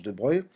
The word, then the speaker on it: de Broglie: a poussé de breuil alors on l'écrit de broglie mais ça se prononce de breuil à émettre une nouvelle